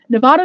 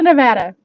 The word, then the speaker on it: Nevada: a good time and yes again nevada nevada it's just gonna happen both ways guys it is i had someone even send me a link to the correct way to say it and i'm sorry but it is nevada and it is also nevada it depends on who you talk to even physically living here